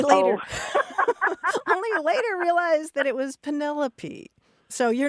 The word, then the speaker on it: Penelope: and I kept talking about this character named Penelope. And only later realized that it was Penelope.